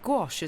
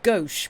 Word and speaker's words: gouache: It's like gouache, isn't it? That's how you pronounce that, right? And colour pencils. I've just realised I don't think I've ever said that out loud. Good pronunciation? Yeah, okay, I thought so. Because my brain just went, it's gauche, because gauche is another word that's similar, but it's not that.